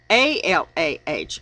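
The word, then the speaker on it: אלה: It is pronounced alah, Allah, meaning same as Allah, allah.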